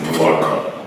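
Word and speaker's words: Volcán: You have to say it like in Volcan. tremendous roar. Right. Like an organic chemist would say.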